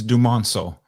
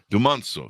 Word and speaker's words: Dumonceaux: your last name please absolutely it's dumancel dumanzo so very French yes am I even